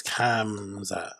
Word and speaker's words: Khamzat: It's Khamzat.